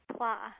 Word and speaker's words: Pla: Middle School Sally pla pla as in blah she said sadly to